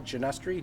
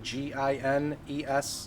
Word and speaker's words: Ginestre: Janestri did get down there when we start working